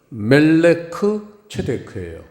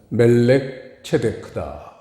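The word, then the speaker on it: מלכי־צדק: 멜기세덱이라고 우리 할아버지들이 이제 편하게 발음을 하셔서 이름을 그렇게 대명사를 붙여 주셨지만 보시면은 멜레크 체데크예요. 멜렉 체데크를 멜기세덱이다. 전 멜기세덱이 더 좋은 것 같아요. 편하잖아요, 발음하기가. 근데 사실은 멜렉 체데크다.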